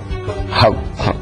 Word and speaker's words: Hauck: Hauck es la forma como se pronuncia correctamente, que es el representante